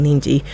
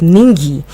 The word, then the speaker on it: Ningi: the false allegation by Abdul nji now I don't know if I'm pronouncing that right it's ningi Abdul ningi now adola